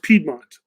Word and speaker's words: Piedmont: people because they're real Piedmont Piedmont Piedmont it's pronounced Piedmont thank you guys bah bah bah Piedmont where's